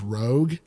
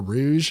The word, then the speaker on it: Rogue: It's in Lenore Zan coming back to play as Rogue or Rouge, however you want to pronounce it.